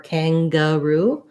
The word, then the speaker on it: kangaroo: but just singer but in finger or kangaroo we have the n really says the ng sound and the g says the g sound kanga and then last syllable stress roo so that would look like kang short short long kangaroo um great so